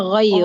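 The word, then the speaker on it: غير: Isim ghair ini ro ya. Munsorif. Munsarif itu tanwin. Yaitu isim yang tidak boleh pakai tanwin. Isim gar munsarif. G apa ustazah? Ghairu. Ghair. Ghairu munsarif.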